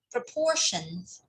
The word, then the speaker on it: proportion: Or like this word, proportions. So if you take S away, it's got two parts. So the first one, PRO, is the prefix. So pr and the syllable, 重音在第二个 P, portion, proportion.